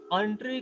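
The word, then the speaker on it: entrée: ये वो एंट्री नहीं है ENTRY, ये है ENTREE। इट is again a sort of from French terminology, एंट्री। इसको प्रोनाउंस किया जाता है एंट्री कोर्स।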